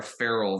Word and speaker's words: Ferrell: stuff so I believe she pronounces it Sierra Farrell versus Sierra Barrel like Will Ferrell you get the idea